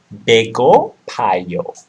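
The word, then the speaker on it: 배고파요: Sounds like an item of food. Bego payo. Okay? Like a bagel.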